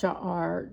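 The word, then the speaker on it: שער: It's um it's pronounced sha'ar.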